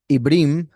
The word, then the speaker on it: עברים: Ibrim, which is the correct way to say it, it comes from the verb abar, which is he passed through.